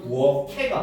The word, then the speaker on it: 부엌에: 입에 같은 경우도 입해 학생들이 제일 실수하는 거 부엌에 하면서 하면 애들이 자꾸 부엌에 부엌에 하는데 정확하게는 부엌 케가 받는 발음이에요 알겠습니까 부엌 을도 마찬가지야 부엌